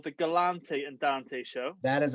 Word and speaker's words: Galante: always say like my the way you pronounce my last name uh is galante everybody and it's happened my whole life and i just i